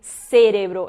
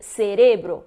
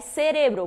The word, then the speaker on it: cerebro: até para pronúncia né não vou dizer cerebral eu vou dizer cerebro porque não tenho aceito ali então se eu sei as regras de acentuação eu vou saber que pela questão de não ter esse assento a pronúncia é cérebro porque paroxítonas terminadas em